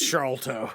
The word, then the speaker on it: Sharlto: Like, we hang out, and he's like, no, it's Sharlto.